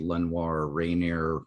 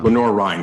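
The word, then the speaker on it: Lenoir-Rhyne: Lenore Ryan, you're not saying it right. Lenore Ryan. Thank you. I appreciate that. You're welcome. I'm not French. Well, you are saying it the French way, Yes. but the Southern way is Lenore Rhine.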